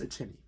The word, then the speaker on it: Iceni: Excuse me, it is pronounced Iceni.